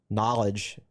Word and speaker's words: Knahlij: He's good friends with Knowledge Harrell, who's a fellow cornerback from Green Run. Knowledge, by the way, is spelled Knahlij.